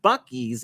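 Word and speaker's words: Buc-ee's: enjoying Becky's because yeah we stopped at three buckies along the way and I learned that it's pronounced Bucky's and not because I've always just called the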